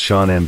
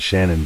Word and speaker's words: Shannon: Pronounced Shaunen by friends and Shannon by her family.